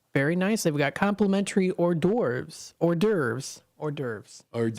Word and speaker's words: hors d'oeuvres: They've got complimentary hors d'oeuvres. That's how you pronounce it.